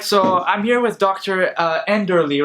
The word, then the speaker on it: Enderle: It's end early. End early. Yeah, that's right. That's right. So I heard about Dr. Enderle online, and because I'm